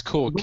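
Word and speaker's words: Kühl: Am I pronouncing it right, Chris? Yeah, it's Cool.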